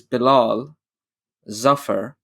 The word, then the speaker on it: Bilal Zafar: i'll tell you so the actual pronunciation is bilal zafar right but if if